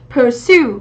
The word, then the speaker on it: pursue: Ví dụ theo đuổi đam mê chẳng hạn, pursue, như vậy trọng âm của chúng ta dâm tiết thứ hai.